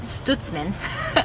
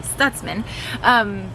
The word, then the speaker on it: Stutzman: Everyone says our last name Stutzman, but it's actually Stutzman.